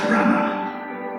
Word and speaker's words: Branagh: And Kenneth Branagh, not, as I've heard many of you pronounce it, Kenneth Branagh.